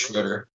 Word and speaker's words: Schroeder: I think it's just Schroeder. Schroeder. I'm adding syllables.